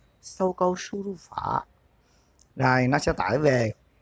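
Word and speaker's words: 搜狗输入法: Tiếng Trung đọc là Sâu Câu Su Ru Phở. Sâu Câu Su Ru Phở.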